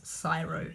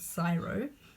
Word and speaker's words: CSIRO: on the news I've heard it pronounced there's sciro and if you pronounce it sciro then that is a true acronym